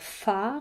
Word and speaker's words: phare: Alors, donc, nous allons pouvoir chercher peut-être des mots avec le son F qui s'écrit PH. Donc, comme je vous le disais tout à l'heure, nous avons un phare. Alors, phare, ça s'écrit avec un